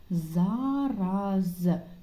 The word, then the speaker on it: зараз: запам'ятайте це словникове слово зараз чітко вимовляємо звук з на початку і в кінці і подивіться на наголос зараз зараз запишемо його